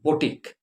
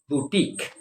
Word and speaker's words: boutique: etc so it is called boutique it's not boutique the pronunciation for it is boutique all right do keep that in mind okay